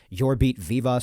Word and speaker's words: Jorbit Vivas: commentators saying his name and heard Yorbit Vivas, so I'm saying that it's got to be the pronunciation.